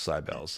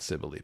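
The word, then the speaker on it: Cybele: And there's even a Sybell's pizza in San Francisco that everyone calls Sybels and not Sibily, but that's all right.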